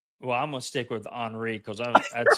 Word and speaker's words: Henri: Just so you know, you said his name wrong too. Henri. It's Henri. It's Henry.